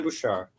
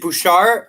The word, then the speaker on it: Boucher: tyler boucher is it is it bouchard no it's not it's like it's really tough because it's o-u-c-h-e-r there's so many different ways the spelling and pronunciation can go it's annoying but it